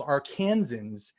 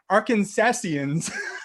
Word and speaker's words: Arkansans: you guys are called arkansans i thought i thought it was arkansasians no no that's way too many syllables for arkansans arkansas yeah or arkies